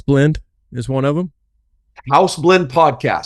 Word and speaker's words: Häus: is one of them House Blend podcast so it's still pronounced like house like uh like American house um um yeah we